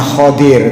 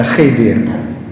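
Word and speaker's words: Khidr: Musa dengan seor seorang namanya mestinya bacanya Khadir tapi orang Indonesia biasanya baca Khidir itu disebut di dalam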